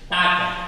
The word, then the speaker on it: talk: Talk, not talk. L is silent.